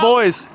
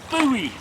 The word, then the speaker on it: buoy: sea by the face but in North America and the Netherlands they pronounce it Bowie so the English at one time the British would have called it a buoy at one time pronunciations change it's now a boy okay so here's the thing